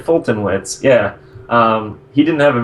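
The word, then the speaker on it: Foltynewicz: to butcher this, but Fulty Newich. Is that how you say it? I asked Josh about this one because he knows him. I think it was Fulton Witz. Fulton Witz, okay. Very close to that.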